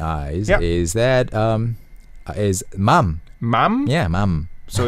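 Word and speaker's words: 맘: is that um is Mom Mom yeah Mom so it's a very short word one syllable with three letters mumum it sounds similar to the English mom like Mom yeah mother mom but it's actually shortened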